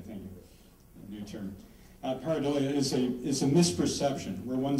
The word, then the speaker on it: pareidolia: As I mentioned earlier, patternicity or pareidolia, is that how you pronounce it? Okay, thank you. A new term. Pareidolia is a misperception where one sees something as clear and distinct when actually it's really vague and obscure.